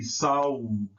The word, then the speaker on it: Sahul: that it is interchangeable, but it should be Sahul, Sahul, Sahul, because the S and the influence of the A in front of the W, S's are soft, but W's are hard. So you can't say Sahul, Sahul, Sahul, because the A and the A